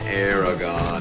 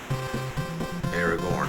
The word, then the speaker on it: Aragorn: And Aragon is in. Look at him go. Aragorn, I keep saying it wrong.